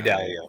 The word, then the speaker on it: Dalio: i'm going to i'm definitely buying that ray dalia is that how you say his name dahlia ray dalio yeah dalio i'm going to buy that book